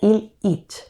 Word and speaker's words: Ilich: Y además Illich se pronuncia Il-ich, y il en inglés es enfermo, pero como sustantivo y en plural significa males.